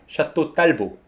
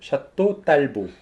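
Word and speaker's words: Château Talbot: 와인이라고 해서 중요해진 모양이죠 샤또 딸보 라고 우리식으로 발음 해주시는 됩니다 아 원래 태워 같 샵도 텔 것이라고 발음하는 씨는 분도 있는데 근데 그거는 원래 영국 장군 의 이름을 따서 만든 와인 이기 때문에 그렇게 바르면 하셨지만 프랑스 와인이 때문에 프랑스 식으로 발음 하셔야죠 샤또 딸보 입니다 포항 새 게임 칸코레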